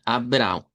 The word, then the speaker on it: Abraão: El nombre de Abraham que nosotros lo pronunciamos en español en portugués sonaría a Abra. Abr con a nasalizada y una w nasalizada. Abraão.